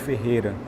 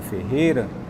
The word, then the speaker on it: Ferreira: e se percebeu que as pessoas ao pronunciar ele pronunciarem a palavra Ferreira eles não pronunciavam o ir então a gente tirou